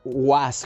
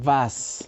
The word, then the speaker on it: was: La B doble no es was como en inglés, sino es was, ¿no? Chicos, eso es súper importante. Yo le digo W, en alemán, por ejemplo, was, dijiste, es como la B de vaca, en español es v, porque muchos dicen woher, was, wo.